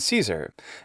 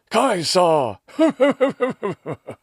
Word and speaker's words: Caesar: such as cicero and caesar and then i'll have to read in the comments something like this if you really wanted to use the classical pronunciation you would say kikero and kaisa this drives me a little